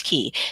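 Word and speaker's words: cay: soul awakening and yes that's key c-a-y it is spelled that way because i live in the caribbean and in the caribbean a key is a small tropical island so this is the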